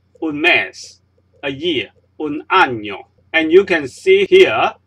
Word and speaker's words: año: We pronounce it with the sounds just like the sound of yellow in English. So this is un año, not un año.